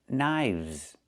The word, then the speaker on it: knives: 1 knife, 2 knives. Again, with the v sound plus the z sound, like in zebra. Knives.